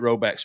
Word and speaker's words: Rhoback: Appreciate Roback sponsoring the show.